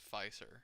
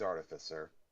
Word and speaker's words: artificer: well i've heard other dungeons and dragons players pronounce it pfeisser so i i don't know okay well we'll say this once again for all artificial pronunciation it's artificer okay so basically they